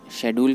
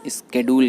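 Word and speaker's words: schedule: इनका प्रनंसीएशन अलग है ब्रिटिश में शेड्यूल कहते हैं और अमेरिका में स्केड्यूल कहते हैं जैसा कि आजकल लोग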